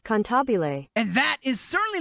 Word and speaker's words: cantabile: But according to Google, it is not pronounced Cannibal, it is pronounced Cantabile.